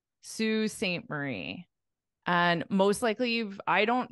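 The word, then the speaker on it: Sault Ste. Marie: blurry one more time salt stay Marie oh very close very close obviously the Marie part you got but it's a little different because this spelling is just pronounced as Su Sue Saint Marie and most likely I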